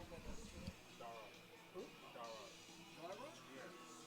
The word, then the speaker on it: Dara: Dara. Who? Dara. Dara? Yes. Dara. Darwa. No, Dara, like D-A-R-A.